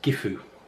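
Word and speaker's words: Gyfu: way the next room looks like an ex but it's not pronounced like an X this is gifu I'll get all these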